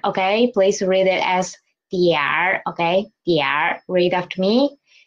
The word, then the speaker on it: 一点儿: or after it, and then we will read it as diar. Don't read it as dianer. Don't read it as dianer. Okay, please read it as diar.